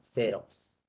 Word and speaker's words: Xerox: Se escribe con X, pero no es Xerox, sino Xerox. ¿Ya ves? Se escribe con S.